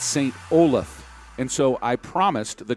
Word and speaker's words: St Olaf: it looks like we've got Tissa pavlovich from St Olaf College she is in the ladies Division and